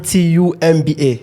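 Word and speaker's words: Ntumba: TBA TBA n t u MBA you don't pronounce the n n is a silent silent T TBA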